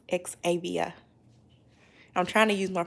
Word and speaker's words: Xavia: up hey miss carolyn my name is pronounced ex-avia i'm trying to use